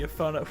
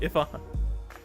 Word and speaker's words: Ifana: Afona was in her. Afona has bonked Cody. Oh, Ifana. That's right. He told us the proper pronunciation. Ifana.